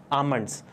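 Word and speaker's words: almond: silent रहता है देखिए स्पेलिंग तो आल्मंड होती है लेकिन इसका जो सही प्रनंसीएशन है उच्चारण वह क्या होता है आलमंड्स तो आप भी यह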